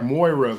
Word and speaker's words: Moira: more mo IRA why I think it's like Moira's like more like that chick from global guts Moira Moira okay Dee